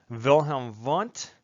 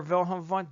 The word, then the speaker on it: Wilhelm Wundt: A lot of people remember Wilhelm Wundt because he's German. So in German, you pronounce the W's like V's. Right? So when I say Wilhelm Wundt, that tends to stand out in your mind.